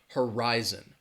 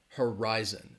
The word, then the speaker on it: horizon: and our members horizon has three syllables and the stress is on that second syllable again this is when syllable stress it does become important horizon horizon that that you can hear my emphasis on that second syllable horizon that first syllable has that schwa that huh uh-huh rise and horizon all right and you